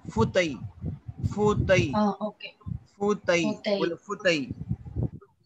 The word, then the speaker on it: fauteuil: Like Have to pronounce what? Armchair. होता ही armchair. Okay. Fauteuil. Fauteuil.